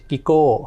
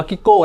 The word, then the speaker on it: GO: ทั่ว โลก นะ ครับ ชื่อ ว่า LH กิโก นะ ครับ บาง คน จะ เรียก ไกโกะ ก็ ได้ ครับ แบงค์ บาง คน จะ เรียก จิ๊กโก๋ ก็ ได้ LH GO อาจ อ่าน ว่า อ่าน ว่า กิ๊กโก้ แล้ว กัน ครับ ซึ่ง ได้ รับ